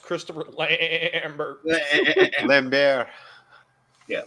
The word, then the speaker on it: Lambert: Adam, it's pronounced Christopher Lambert. Lambert. Yeah, Lambert.